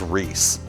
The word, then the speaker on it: Reese: The man's name was Reese. That rhymes with peace.